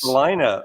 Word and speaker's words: Salina: Salina rhymes with vagina.